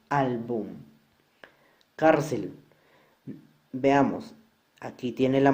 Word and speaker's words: álbum: Álbum tiene 2 sílabas. La mayor fuerza de voz está en la penúltima sílaba. Y como no termina en N, S o vocal, entonces esta palabra sí debe ir tildada en esta sílaba.